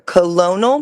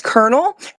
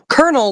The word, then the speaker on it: colonel: I said, "Right there, colonial. No, that's colonel." And there's the phonetic pronunciation. Colonel like popcorn.